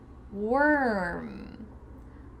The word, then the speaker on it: worm: Warm, worn, worm, warm, worn, worm. The first two words have an OR sound. Warm, worn. And the final word sounds like an ER. Worm.